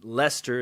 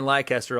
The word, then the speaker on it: Leicester: uh we've been doing some shooting out in leicester is how it's pronounced i've learned leicester square because leicester's like nestle's up north leicester square leicester square i've been saying lycaster all day people have been trying to correct